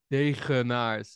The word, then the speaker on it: Degenaars: Degennaars. It's a very Dutch "g".